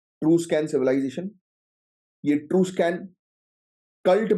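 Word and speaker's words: Etruscan: मिलता है true स्कन true स्कन civilisation right it स्कन नहीं बोलते इसको इसको एक्चुअली ट्रू स्कन बोलते य साइलेंट हो जाता है तो इसी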